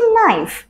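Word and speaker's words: knife: সো এখানে এই কেটাও কিন্তু অ্যাজ ইউজুয়াল সাইলেন্ট, সো আমরা এটাকে বলতে পারি সিম্পলি নাইট। তারপর আমাদের জন্য আছে নাইফ, যার মানে হচ্ছে ছুরি।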